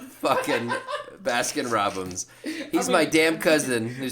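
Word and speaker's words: Baskin-Robbins: Briar all right your basket Robins 41 flavors let me tell you you basket Robinson's like Robinson's basket Robinson's is that how you say it it's Baskin Robins Basin Robinson's that's his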